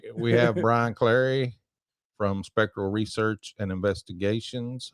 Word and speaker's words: Clary: Clary. I said it wrong the first time.